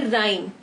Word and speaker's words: Rime: RIME लिखा हुआ है, पर इसके जो एक्चुअल स्पेलिंग्स आज की डेट में हम यूज करते हैं वो है RHYME. This is राइम.